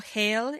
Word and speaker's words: Hel: You know that Norse pronunciation of hell.